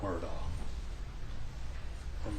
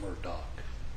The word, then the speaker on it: Murdaugh: honor to represent Alec word on Ward doc depending on how you pronounce it I say it's our